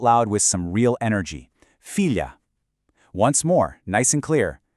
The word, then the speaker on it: filha: We keep that exact same LH sound in the middle. That's not changing. But, look at the end. We drop that soft ooze sound and replace it with an open, clear ah. Your mouth actually opens wider at the very end of the word.